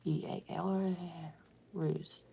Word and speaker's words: Behruz: Beiruz? Yes. It is. He spells it this way. Behruz. And it's pronounced Bal. Ruse.